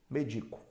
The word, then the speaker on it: medico: poucas porque faz diferença ó médico é um substantivo se eu tirar o acento eu vou ter medico tá médico mico percebeu a diferença aí ó número número é